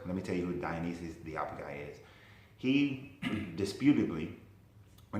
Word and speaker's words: Dionysius the Areopagite: Like I said, Dionysius the Areopagite, I keep saying that name wrong, but it's Dionysius the Areopagite.